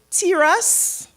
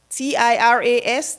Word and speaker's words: Tiras: I really hope I pronounce his name or her name properly. It's Tiras, T-I-R-A-S, Tiras Fontenelle.